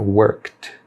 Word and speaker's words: worked: Não pronuncia o E aqui. Ele fica worked, worked.